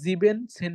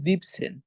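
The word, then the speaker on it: siebzehn: আমরা কি বলবো জেকসেন যখন আমরা 17 বলবো তখন আমরা জিভেন সেন বলবো না তখন আমরা বলব জিপসেন ওকে তাহলে আমি পুরোটুকু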